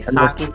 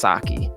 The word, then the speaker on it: Psaki: Okay, Psaki to me. Psaki, but I think it's Saki.